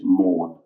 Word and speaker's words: Maugham: Et alors, je vous dis de suite, s'il vous plaît, faites savoir à tous les Français qu'on ne prononce pas le G. C'est Somerset Maugham, ok? C'est pas Maugham.